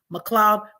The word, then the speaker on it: McLeod: in my name but it's actually spelled m CLE e o d m CLE e o d it's pronounced McLoud but MC EOD D